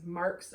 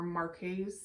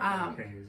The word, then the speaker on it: Marques: different some people, so there's 2 different ways you can say that it's Marks or Marques. No, it's Marks. But they spell it differently. It's not Marques, it's just Marks. The well, I know. QUES is Marks.